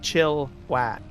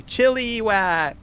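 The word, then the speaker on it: Chilliwack: Just chillow like Chillwack and slightly the I in there. Chilla, right? A little bit. Not so much of an emphasis on I. Chillow, right? Can't even hear the eye when I pronounce it. But there's a lot of people they'll say chili whack. Chili whack.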